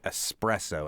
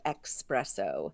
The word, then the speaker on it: espresso: there that's true but it is still more standard to say espresso as as opposed to Espresso right well it's more common